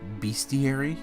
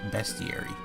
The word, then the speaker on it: bestiary: pages of this be I always said beastiary because that's pretty much what it means or what it's is it's a list of beasts but the correct the correct pronunciation is bestiary I guess it kind